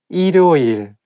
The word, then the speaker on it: 일요일: When the word has the same syllable at the beginning and at the end at the same time, it's not easy to pronounce. For example, 일요일. If you read it syllable by syllable, you can say 일요일, but when you say it as a one word, you have to connect it together and say 일요일.